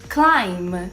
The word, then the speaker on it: climb: Quando a gente tiver a combinação do M e o B em palavras, a gente não vai pronunciar o B, como a gente viu nos exemplos.